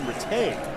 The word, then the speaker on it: Rattay: They also have Sean Ratty, the cousin of same spelled, pronounced differently, former star quarterback Tim Rattay. Yeah, well, quarterbacks are Rattays. Linemen are Ratties.